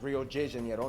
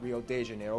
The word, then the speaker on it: Rio de Janeiro: That's right, it's pronounced Rio de Janeiro, not Rio de Janeiro. Get it right, we're not in Mexico, this is Portuguese, not Spanish.